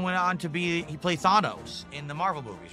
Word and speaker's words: Thanos: People used to say Thanos back in the day. No, Everyone said it's just Thanos. But now everyone says Thanos. Thanos because they said that the way in the movie, so I guess that's the proper pronunciation.